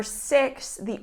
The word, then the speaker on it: sixth: case for the number six the ordinal number is sixth okay so practice that th sound for example George finished